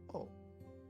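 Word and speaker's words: お: This is O, or O. It is the equivalent of the vowel O in English.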